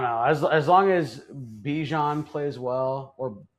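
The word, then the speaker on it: Bijan: as as long as Bejon plays well or Bjon I believe it's pronounced Bjon Bjan Robinson he watching him play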